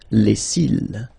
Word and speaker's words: cils: Final S not pronounced. Les cils.